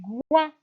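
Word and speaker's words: coing: O-I-N égale à ouin. Ouin. Et le G est une lettre muette. Donc, le cognacier est un arbre fruitier. Il donne du goin.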